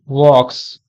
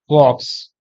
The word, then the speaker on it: walk: say walk talk okay the letter L is silent okay so you can